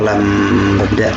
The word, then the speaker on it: lambda: Dibaca lambda simbol.